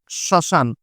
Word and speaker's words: শ্মশান: নাম হচ্ছে চন্দ্রবিন্দু আচ্ছা আমরা এটার উচ্চারণটা হচ্ছে শ্মশান তার মানে প্রথমে আছে ম ফলার উচ্চারণটা কিন্তু আমরা করিনি ম ফলার কোন কাজই নেই কিন্তু যেহেতু ম ফল আর ম হচ্ছে একটি নাসিক্য ব্যঞ্জন সেহেতু তার উপরে আমরা একটা চন্দ্রবিন্দু বসায় দিতে হবে অর্থাৎ মনে রাখতে হবে